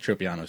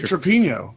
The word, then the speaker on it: Tropiano: Listen, you did Nick Tropiano's name wrong, but I'm not going to say anything about it because I like you. What did I call him? Tropino? Nick Trapino. Trapino. I love Trapino. It's Tropiano.